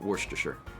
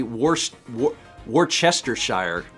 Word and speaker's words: Worcestershire: so i'll just say i'll continue to say uh worcestershire coffee but at least i won't say worst war chestershire so you know people